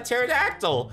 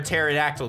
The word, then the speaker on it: pterodactyl: can't you hear a pterodactyl go to the bathroom because the p is silent that's the kind of